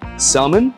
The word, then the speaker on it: salmon: welcome we also got salmon right I like pronouncing the L it's an Asian thing I guess people say salmon but salmon and we